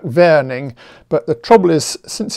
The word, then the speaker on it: Warning: by the way that warning was a german mathematician so his name was probably pronounced something like verning but the trouble is